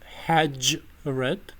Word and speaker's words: hajret: In standard adiga it's hajret. I'm pronouncing with a retroflex version, but just because I'm saying it in English.